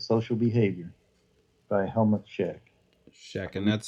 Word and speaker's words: Schoeck: Schecht, and that's spelled like Shoeck, right? Schoeck.